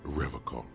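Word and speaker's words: Revachol: He pronounces Revacon with a hard K.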